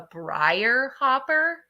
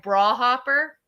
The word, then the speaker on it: briar hopper: I think it's called a briar hopper, but with a Middletown accent, it sounds like bra hopper.